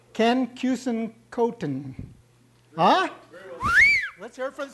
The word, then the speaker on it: Keusenkothen: you'll enjoy what he has to say Ken cousin cotton ah let's hear from the speaker be he